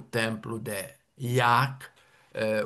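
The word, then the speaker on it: Ják: Um dos nossos monumentos desta época românica é o templo de Yak. Eh, o J pronuncia em húngaro I e que fica relativamente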